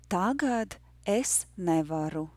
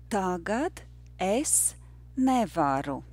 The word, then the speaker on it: Tagad es nevaru: Tagad es nevaru. The rhythm is yes, no, yes, yes, no, no. Once more, yes, no, yes, yes, no, no. Tagad es nevaru.